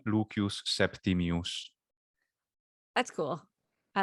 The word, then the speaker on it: Lucius Septimius: uh interesting lucius septimius yeah english would say lucius septimius or lucious lucius or lucius whatever you want to do septimius and in classical latin pronunciation leukeus septimius that's cool i like that pronunciation and of